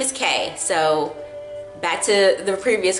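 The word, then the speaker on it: Caé: her full name so you spell it CAE with the accent mark over the e but it's just K question 3 where were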